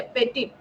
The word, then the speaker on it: petit: French में इसका spelling है PETIT, ठीक है, पेटिट।